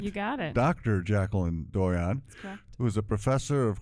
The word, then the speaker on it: Doyon: have in the studio with me today jacqueline doyon did i pronounce that right you got it dr jacqueline doyon who is a professor of criminology at the